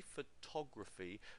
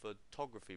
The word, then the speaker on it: photography: the next word photography when we say photography we put the stress here on the second syllable photography but on the the